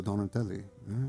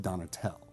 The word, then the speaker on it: Donatelle: have some documents in Armenia that it's spelled just LL with nothing. Oh, God. Because I said Donatel. And they didn't, And then my sisters, trying to go back to the Italian roots, were pronouncing it Donatelli again.